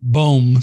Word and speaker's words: Boehm: It looks like Boehm, but we pronounce it Boehm. That's all right. My screen reader pronounces it Boehm, so there you go.